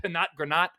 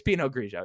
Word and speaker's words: Pinot Grigio: Is that how you pronounce it? Pinot Granat? Pinot Grigio, right? It's Pinot Grigio.